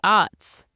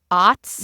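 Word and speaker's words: aughts: cuz you wouldn't say I think it's the early ODS is the correct way to say it OTS yeah yeah I I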